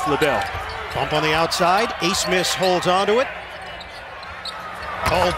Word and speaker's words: Abmas: but a foul call the last name is a-b-m-a-s but it is pronounced ace miss and look right here